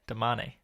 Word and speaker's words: damane: You say domain? How do you say it? Damane. Because it's Domani and Damane.